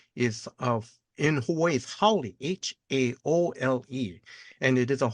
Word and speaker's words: Haole: The actual spelling is of in Hawaii is Haole, Haole, and it is a Hawaiian term that's meant that means foreigner.